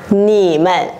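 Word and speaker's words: 你们: Còn ở đây cái câu chuyện mà chúng ta đang nói nó là thành nhẹ thì mình sẽ đọc là nỉ mận, nỉ mận, rất nhẹ, đúng không ạ?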